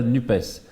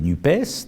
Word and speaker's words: NUPES: de la gauche, appelée NUPES, donc vous prononcez le S, donc je le prononce comme vous. Mais je suis originaire du Gers, donc on a l'habitude de prononcer les S. Et donc la NUPES, qui a créé une